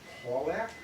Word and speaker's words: Pawlak: "Pawlak?" she inquired, stressing the first syllable, speaking with a distinctly British accent.